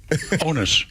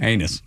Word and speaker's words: onus: Onus. No, Neil. No, he anus.